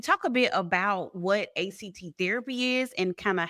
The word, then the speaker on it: ACT: Can we talk a bit about what ACT therapy is and kind of how they begin to fill some of those gaps? So, it's actually pronounced ACT. So, that you got to always say ACT because that's what Steve Hayes says.